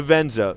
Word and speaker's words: Venza: vienza oh the benza yes that's how you pronounce it the Venza which is it's kind of a cross between